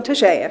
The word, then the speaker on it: Tajaya: So please welcome Tajaya. And if I didn't say it correctly, then you correct it. No, you said it right.